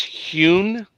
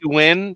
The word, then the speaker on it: Huynh: She'll correct me, but I believe that's Hune. It Hune? could Okay. be Huen, but I think it's Hune.